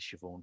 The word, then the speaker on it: Siobhan: Am I pronouncing your name correctly, Siobhan? Forgive me if I'm not. Absolutely. Beautiful. Yeah, perfect.